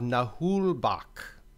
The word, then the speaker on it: Naheulbeuk: and this is I looked up how to pronounce it the dungeon of nahul Bak The Amulet of chaos so this game came